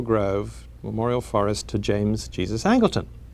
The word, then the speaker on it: Jesus: He's always, everyone, although it should be Jesus, because that was in recognition of the Mexican half of his family, everyone always pronounced it Jesus.